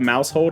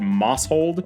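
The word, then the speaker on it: Maushold: Chula Pokemon catcher Mouse I didn't realize this one was called Mouse hold until I saw someone else pronounce it I really thought it was called Moss hold or moshold I'm like I don't get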